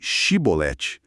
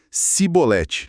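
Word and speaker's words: shibboleth: do dialeto regional deles, não conseguiam pronunciar o som x, sabe? O som de x inglês ou o nosso x de xígara. Eles não tinham esse fonema na fala deles. Simplesmente não tinham. Então, em vez de chibolete, a pronúncia dele saía como cibolete. Essa pequena diferença, um X contra um S era a sentença de morte.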